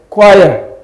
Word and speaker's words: choir: That you have CH here and you have CH here, that does not mean that they are pronounced the same way.